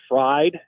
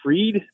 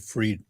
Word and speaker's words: Fried: his last name is I pronounce it as fried but they call him freed yeah I think he pronounces it freed okay because I was